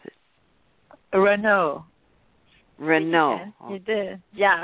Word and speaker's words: Renaut: You pronounce it. Renaut. Oh. You did. Yeah, Renaut.